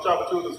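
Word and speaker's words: Tchoupitoulas: The chef is around the corner on Chapatula Street. All right. Cho what? Chapula Chapatula. Chapatula. Chapatula. Nothing like that, but it's Chapatula.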